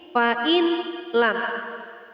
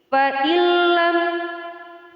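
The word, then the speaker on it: فَإِن لَّمْ: Nun mati bertemu dengan huruf lam, membacanya tidak lagi seperti ini, fa'in lam. Akan tetapi fa'illam taf'alu wa lan taf'alu fattaqun naral lati waquduhan nas wal hijarah u'iddat lil kafirin.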